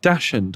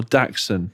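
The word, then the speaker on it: dachshund: I saying it right dashen or daxon well it's a it's a German breed so I think it's daxon right okay but some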